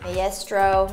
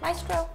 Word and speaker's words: Maestro: on the box and I said Maestro, and Kim Manning corrected me and told me it's pronounced Maestro.